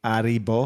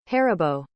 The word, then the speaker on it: Haribo: that's still German no is the H silent like aribo no it's it's phonetically it's he like he rabo do the Google pronunciation that's what I did harabo harabo harabo harabo hero